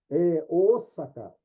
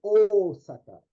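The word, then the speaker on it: Ōsaka: Osaka. Aí o japonês, quando lê esse símbolo, ele prolonga esse som, o, ele não faz o, faz Osaka, Osaka, né?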